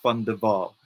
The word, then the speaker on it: van der Waal: I'm sure the Americans pronounced it very differently, but in South Africa, we would pronounce it as Grace van der Waal.